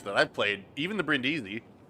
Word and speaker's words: Brindisi: I've played, even the Brindisi, like I love the Brindisi, or Brindisi. Forgot I was putting the wrong emphasis on the wrong syllable with it.